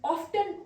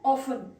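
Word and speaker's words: often: Grand parents यानी दादादी नाना नानी ऑफन ऑफन दो तरह की इसकी प्रोनंसिएशन है। आप टी को साइलेंट रखे और बगैर टी को जो है बोले तब कह सकते हैं। यानी ऑफन ऑफन दोनों करेक्ट है।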